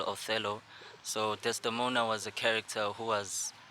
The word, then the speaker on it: Desdemona: Ndota, you have a song titled Desdemona. Yeah. Did I pronounce it right? Yeah, Now, Desdemona.